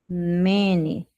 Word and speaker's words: many: Cuidado para não pronunciar como money. Seria many.